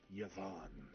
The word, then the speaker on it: Javin: tan ass and then this one is introduced as Javin um though he says it's pronounced yavon he eel let's go